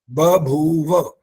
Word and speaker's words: बभूव: बभूव ब क्लियर नहीं आता, ब और भ है ना, तो जरा जो इकट्ठे ऐसे ऐसे आ जाते हैं तो वहां उच्चारण गलत होने की संभावना हो जाती है। बभूव, ब भी क्लियर होना चाहिए, भ भी और फिर व भी।